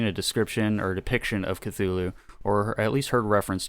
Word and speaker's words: Cthulhu: uh throughout his life including kalulu uh with a heavy guttural first syllable like that yeah so basically like just kind of like weird gibberish because it's supposed to be spoken in a language that humans aren't able to pronounce so be like you know the most common pronunciation however is cthulhu popularized much uh later after lovecraft's death uh the truth of